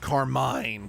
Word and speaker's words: Carmine: Her name pronounced Carmine.